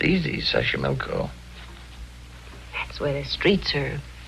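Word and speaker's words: Xochimilco: City Taxco pbla sash sashco okay so you pronounce it better than I do it's easy sash milco that's where the streets are paved with flowers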